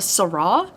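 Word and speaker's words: sara: call her a vampire they call her a sarra I think is how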